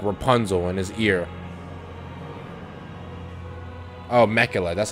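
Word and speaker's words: Miquella: Oh, Mekula, that's how you say her name.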